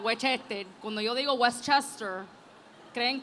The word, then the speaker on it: Westchester: You have to say it like that, Westchester.